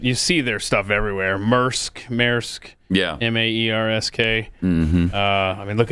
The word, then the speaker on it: Maersk: So the company, I don't know how you pronounce it. You see their stuff everywhere. Maersk.